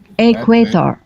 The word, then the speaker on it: equator: it's just a plateau the emphasis in there is on the quay yes a crater yeah equator okay let me try